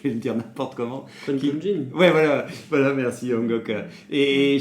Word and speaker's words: Qui-Gon Jinn: Tu prononces comment? Tu dis Qui-Gon? Qui-Gon Jinn. Ah, c'est Qui-Gon Jinn, c'est bien, je retiens.